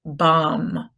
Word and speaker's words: bomb: And bomb. It's not a bomb, it's a bomb.